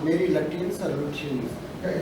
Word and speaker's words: Lutyens: I don't know how to pronounce Mary Lutyens or Lutyens. Yeah, you can say luteins or Yeah. luteins. Both are okay.